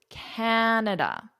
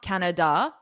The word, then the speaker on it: Canada: So a lot of students will put the stress on the wrong syllable or they won't put any stress on it. So it's Canada. It's not Canada.